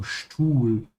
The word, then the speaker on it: Stuhl: Because the s comes before a t. It's pronounced like sch. So Stuhl, ja.